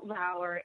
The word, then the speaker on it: Lauer: you for saying Rondon our rhymes with flower because I used to